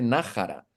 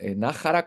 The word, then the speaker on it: Naxara: Es como Jerez, es decir, eh, debería llamarse Nájara. Leemos Nxara porque leemos X, pero es castellano antiguo. Debería ser Nájara como Jerez, como Sherez o como México.